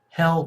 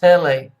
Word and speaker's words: Helle: name her name is Helle crafts and I'm like oh it's pronounced hailey okay okay where you can